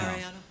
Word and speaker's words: Mariano: Mariano? Mariano? Yeah. Mariano.